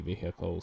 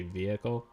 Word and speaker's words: vehicle: I used to just say vehicle, which I do still oftentimes, but nowadays I will say vehicle. Like I'll emphasize the H.